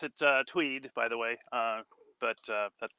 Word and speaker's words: Twedt: usually pronounce it uh Tweed by the way uh but that's okay it's it's Norwegian derived so it's the pronunciation's a little bit uh uncertain but yeah I actually